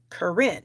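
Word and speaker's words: Karin: is spelled k-a-r-i-n and she pronounces it Corinne so there you go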